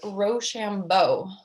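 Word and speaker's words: Rochambeau: our watch word was roshambo the commander of the french forces name a good watch word for being pronounced ro shambo it sounded when pronounced quick like rush on voice the blood kurzon tried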